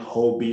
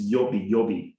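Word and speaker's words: Huobi: Some people call it Hobby. So I've learned that they pronounce this as an Asian platform. They pronounce that H as Y. So it's Yobi Global.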